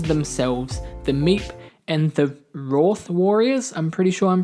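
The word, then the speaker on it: Wrarth: The monsters themselves, the Meep and the Roth Warriors, I'm pretty sure I'm pronouncing that correctly. I thought it was Wrath Warriors, but the way the Meep pronounced it, I think it was Roth Warriors, if I remember correctly.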